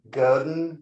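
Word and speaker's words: Godin: that uh made out of this is a Goden guitar which is spelled g o d i n and um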